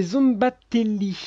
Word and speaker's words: Szombathely: une photo pour essayer de trouver exactement la prononciation, mais j'y arrive pas. C'est Zombatelli, voilà.